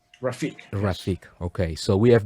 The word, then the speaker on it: Rafik: right so rafik and the correct pronunciation of your name is rafik rafik rafik okay so we have been pronouncing it